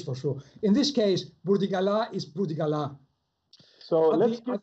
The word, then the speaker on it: Burdigala: It's a French name. So in that case, it has to be Burdigala.